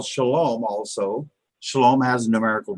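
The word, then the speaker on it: שלום: so that's why we have when we spell Shalom also Shalom has a numerical value that needs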